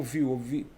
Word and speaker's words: Vue: Seria a pronúncia como view.